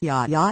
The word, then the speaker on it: JiaJia: As the Wilsons travel from their home in the American Midwest to northern China, JiaJia, pronounced Jah Jah, lays wide awake in the small room he shares with 8 other orphans.